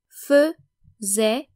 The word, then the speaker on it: faisait: The first AI is pronounced like the French letter E, E. Faisait, faisions, faisiez, and faisait.